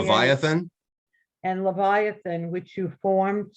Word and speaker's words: Leviathan: And how do you pronounce that word? Levin? Leviathan.